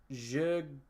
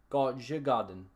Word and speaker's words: Djurgården: We don't pronounce the D. So it's Djurgården. Djurgården, right?